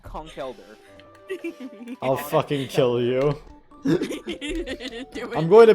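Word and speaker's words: Conkeldurr: It's pronounced Conkelder.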